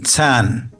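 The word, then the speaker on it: 蚕: from silk worms the character for silkworm is tan and if you look at the traditional character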